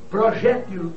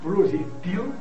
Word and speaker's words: projétil: Nós temos Oceânia ou Oceania, Balcãs ou Balcãs, Homília ou Homilia, hieróglifo ou hierol, hieroglifo, projétil ou projetil, réptil ou reptil, né?